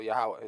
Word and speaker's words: Yahweh: Yahweh or Oh, Jehovah. No, Yahweh is how you pronounce it.